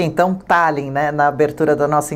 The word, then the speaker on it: Tallinn: Pronuncia-se então Tallinn, né? Na abertura da nossa entrevista eu falei Tallinn porque eu vi escrito com um acento em